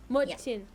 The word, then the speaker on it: 멋진: I got a boy 멋진. Mochin. I got a boy in my chin. Oh, okay, I see. It's the diphthong kind of.